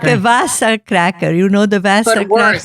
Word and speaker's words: Wasa: can't say her w's that's why she called it vasa but i know what she pronounced it like that in scandinavia yeah it's not good